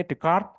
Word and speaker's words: Descartes: pernah kenal namanya Rene decart Rene Descartes itu ya bacanya Rene decart itu pencetus pragmatisme awalnya